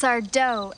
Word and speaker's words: Sardo: on the d sard That's sardo Accent on the D that's sardo no Mister